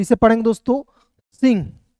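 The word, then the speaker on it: Singh: तो इसे पढ़ेंगे दोस्तों सिंह एस आई से सी एन है तो ऊपर बिंदी लगा देंगे। एच का ह जाएगा। इसमें जी साइलेंट होता है।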